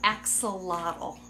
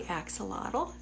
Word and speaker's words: axolotl: So I always tell people, I love my axie, not a little, but a lotl.